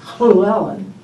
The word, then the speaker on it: Llewellyn: Because the Welsh double L is like Llewellyn is Llewellyn. Okay. It really is sort of... No, that's very different. Back of your throat.